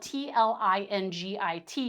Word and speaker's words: Tlingit: And when I say Tlingit, it's spelled t l i n g i t. It's pronounced Tlingit.